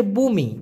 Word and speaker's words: bumi: ওই যে ভূমিকম্প হয় না, তো ওরা ওই গম্পার পরে দিবে হচ্ছে বুমি, BUMI, ভূমি কিন্তু না, বুমি, উচ্চারণটা হবে বু মি।